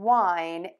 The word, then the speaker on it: whine: Two for Tuesday are two words that are pronounced the same, but they have different definitions and different spellings.